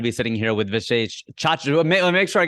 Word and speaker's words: Chachra: sitting here with Vishesh Chachra. Let me make sure I get this right. Vishesh Chachra. Chachra, yeah. People like to say Boom. chakra for some reason. Chachra, just like it's spelled.